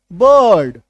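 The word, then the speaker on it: bird: है साइलेंट होता है जैसे बी आई आर डी बर्ड बर्थ है ना यहां पे अ छुपा हुआ है फर्स्ट सर्ट अ है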